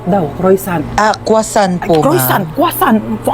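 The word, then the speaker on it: croissant: Croyant daw. Croisant. Ah quasant po.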